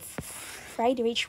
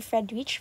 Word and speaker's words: Friedrich: But then this scientist this German scientist named Friedrich Waller si Fredrich Friedrich other pronounces as Fried Rich others pronounce is as Fredrich.